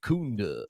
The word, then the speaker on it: Kunda: name wrong right and it's kunda yeah it's not an ooh oh it's like it's like